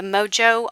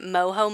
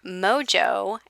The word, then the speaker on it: Mojo: in the past and i've been saying it wrong all this time i've been calling it moho monday because that's the spanish in me wanting to call it moho and then one of